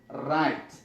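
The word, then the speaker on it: write: دا ډبلیو آر چې راشي په ابتدا د کلمه کې د ډبلیو نه تلفظ کېږي. مثلا زه وایم چې رایټ.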